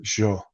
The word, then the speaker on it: yo: I won't bore you with the details, but when you say I, it's yo, yo, Hmm. Hmm. but she'll pronounce it jo, so her Y's are a J, That's right?